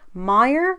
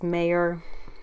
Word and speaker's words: Meyer: hosted by the wonderful Christine Meer I believe is how you pronounce her last name I really don't like pronouncing people's last names cuz I really don't like SC up people's names uh so I do apologize if it's mayor or meor but I thought it was Meer just just from the spelling